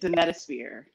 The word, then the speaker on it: Demetosphere: That's how you say it, Demetosphere.